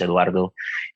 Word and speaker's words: Eduardo: my name is the real name is eduardo that we pronounce it in spanish eduardo and uh i was